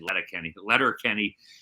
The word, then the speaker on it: Letterkenny: If you're familiar with the show Letterkenny on Hulu, I got it's one of the few times I pronounce my R when I say Letterkenny.